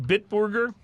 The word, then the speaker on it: Bitburger: Before we get to that, Bitburger, the German beer, Bitburger. It's not Bitburger, it's Bitburger. Bitburger. That sounds more Bitburger, proper.